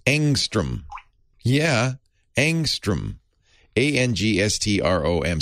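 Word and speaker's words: ångström: it's angstrom yeah angstrom a-n-g-s-t-r-o-m swedish word so the a has a little halo over it and the o has an umlaut so it's probably pronounced angstrom it's named after a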